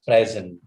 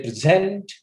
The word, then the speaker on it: present: p-r-e-s-e-m-t is a word it can be pronounced in two different manners no one is present and the second is present if you say present you are making use of this word as a work and if you say present it becomes a noun just imagine a pronunciation